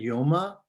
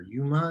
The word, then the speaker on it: Yoma: Today's daf in daf Masechet Yoma, or Yuma as we often pronounce it.